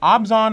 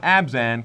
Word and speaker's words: Abzan: with the white clan the obson houses obson not abzan kind of like obsid do or if you go to Hogwarts that's how you would pronounce it but let's see what's